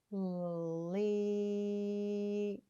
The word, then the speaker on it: leap: The A is silent, and E says E. And then this is L, E, P. So let's put them together and sound out our word. Ready? Leap.